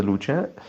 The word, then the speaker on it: luce: Luce would be light. That's wrong. That would be luce, like that CE at the end of the luce is a diphthong like cherry.